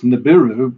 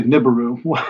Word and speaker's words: Nibiru: I understand the problem the best pronunciation is Nibiru but a lot of people say Nibiru whatever I may go